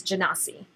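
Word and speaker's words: Genasi: was drawn to initially well so it's usually pronounced operatives genesee oh do not see yeah so but I'm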